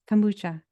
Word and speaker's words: kombucha: that's something that I could try K Kuka kombucha how do you say it kombucha okay that has vitamin C B1 b6 and